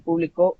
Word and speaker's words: publicó: yo público el público perdón así es el publicó un libro ayer sería un ejemplo digamos como